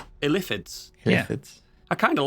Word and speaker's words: illithid: Or as Baldur's Gate 3 has told us, it's actually pronounced illithids. Illithids.